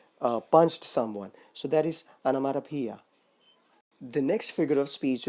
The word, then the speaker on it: onomatopoeia: The next figure of speech is onomatopoeia. I know it sounds very weird and funny, but then let me say once again how it sounds.